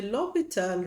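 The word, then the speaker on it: L'Hôpital: It's a French mathematician. The h is silent. Loal rule. Okay. So for the loital rule I need to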